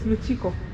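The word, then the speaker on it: Lukiiko: This is the Great Luchiko, the parliament of our Oh, you not Lukiko, it's Luchiko. You pronounce it as Luchiko.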